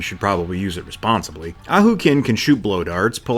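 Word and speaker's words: Ahau Kin: and start with him auk kin is how War gods pronounces his name so that's what I'm going with he might be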